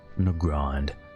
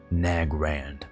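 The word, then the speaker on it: Nagrand: ] tall books and it will always be pronounced negronde not nag rand that is dumb now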